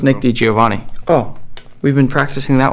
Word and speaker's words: DiGiovanni: pronounces things slightly different if you split my last name into two different ways it's giovan so that makes it easier to think about D Giovani if you put it